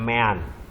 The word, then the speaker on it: mean: Tulisannya mean, tapi bacanya mean.